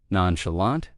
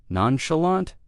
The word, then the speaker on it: nonchalant: Next, one I love, And I must point out the difference between British and American pronunciation. Nonchalant, nonchalant, or in American English, nonchalant.